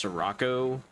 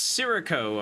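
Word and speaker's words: Sirocco: Um, so we're going to dig into the DLC, the new Sroco or Sako, I believe they pronounce it, even though I think it's Sarraco, but it's Serako apparently.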